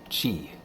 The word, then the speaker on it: chi: Captain Jack can boost, which means he has chi, or key points, depending on how you want to pronounce it.